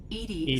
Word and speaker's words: EDI: yeah your name why are you named edie edie genetic pronunciation of edi that is an acronym for